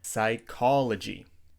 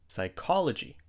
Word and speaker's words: psychology: pronounce repeat after me psychology psychology the p is silent in this word psychology another word with